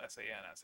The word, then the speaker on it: Sans: else but you know whatever it's spelled s-a-n-s it's Sans uh and one of